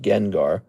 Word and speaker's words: Gengar: That's how it's pronounced. It's actually pronounced Gengar if you didn't know that.